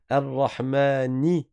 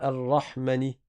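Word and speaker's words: الرحمن: Là encore, vous avez un alif après le mim. Il est obligatoire de le prononcer. On dit pas Rahmani. A Rahman. Il faut faire attention.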